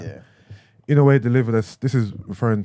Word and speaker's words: Inoue: All right, again, how do you pronounce his name, please? The boxer, Inoue. Inoue. All right. Yeah. Inoue delivered us.